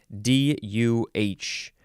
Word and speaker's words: duh: word is literally duh d-u-h and the etymology says that uh this is usually pronounced with a prolonged uh duh instead of just duh nobody says duh you gotta say duh duh it's an interjection from